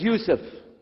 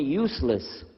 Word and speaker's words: Yusuf: My name is Yusuf. Can you say Yusuf? You say Yusuf. You're very good. I wish you'd teach my wife. She keeps mispronouncing it. She calls me useless.